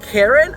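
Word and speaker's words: cairn: and in english it's karen of peace it's seriously pronounced karen i didn't know this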